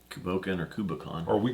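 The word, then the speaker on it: Cù Bòcan: We got us Tomatin Cu Bocan.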